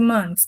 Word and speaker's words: months: Aqui na nossa pronúncia é uma exceção com esse thele. Então a gente vai dizer months months. One month o th sai e no plural não. Ele vai mais direto como se fosse um T mesmo.